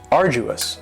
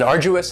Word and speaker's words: arduous: And arduous has 3 syllables, and the stress is on the first syllable. Arduous. Now, you don't hear that D sound that much. It's not very strong. It almost sounds a little like a J.